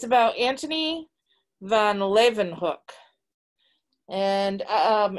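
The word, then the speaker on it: Leeuwenhoek: it's about anthony van levenhook and um it tells you how to pronounce his name in the book because it looks like lew and hulk or something but they tell you it's levenhook so what an interesting man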